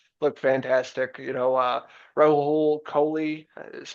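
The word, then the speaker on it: Rahul Kohli: You know, uh Raul Kohley is how you pronounce it.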